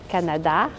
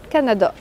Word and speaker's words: Canada: Canada, Canada. Donc, presque tous les mots qui finissent avec le son « a » au Canada, on a tendance à les prononcer comme des « a ».